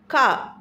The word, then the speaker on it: car: For example CAR அப்படின்றத British இங்கிலீஷில் கா அப்படின்ற ப்ரொனவுன்ஸ் பண்ணுமே தவிர நம்ம சொல்கிற மாதிரி கார் அப்படின்ற மாதிரி சொல்லலாம்.